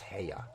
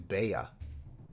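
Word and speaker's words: 部屋: But yeah, together it just means room, and it's pronounced heya, heya. Bossu heya, although in this case it might be bossu beya. You could probably say either and be fine.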